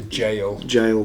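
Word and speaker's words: gaol: And when you go to somewhere like the Goal, owned by Justin, the jail Goal, it's spelt Goal. It's jail.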